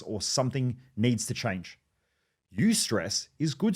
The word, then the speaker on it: eustress: There's one called eustress, which is spelled E-U and then stress, or distress, called D-I-S, stress.